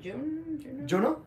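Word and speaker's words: Juneau: I don't know how to pronounce June? Juno? Juno, yeah.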